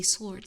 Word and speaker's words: sword: I did always get confused why sword, you just say sword, like without the W in there.